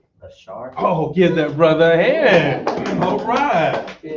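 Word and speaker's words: אשר: have actually in English how might we pronounce this in Hebrew though if we have Asher in English how is actually going to be pronounced in Hebrew go ahead a shark oh give that brother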